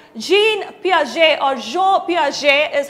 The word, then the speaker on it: Piaget: g uh plus 50 she's absolutely right jean piaget or joe piaget is how some of them pronounce it he is actually the person who